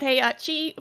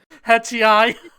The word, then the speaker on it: Heihachi: And they had Heihachi for PS2. Say his name right, Sonia. Wasn't that his right name? Hetchi.